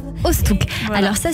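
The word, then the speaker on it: Oosthoek: Ostouk. Ostouk. Voilà. Alors ça s'écrit sur YouTube Ostouk, O-O-S-T-H-O-E-K.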